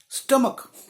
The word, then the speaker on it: stomach: स्टमक, अब स्टमक में भी यही है, आखिरी में CH होता है, लेकिन प्रोनाउंसिएशन च नहीं होता, क होता है, STOMACH।